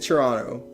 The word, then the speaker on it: Toronto: there in at the end but it it is silent it is Toronto we all call it Toronto and I lived